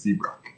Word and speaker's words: Seabrook: is always faking injury it definitely looks like it says it's pronounced c brock s-e-e-b-r-u yeah some of